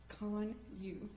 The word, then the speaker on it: Kanuch: We're here today because someone killed my son Austin and the correct pronunciation of his name is Conu, like C O N Y.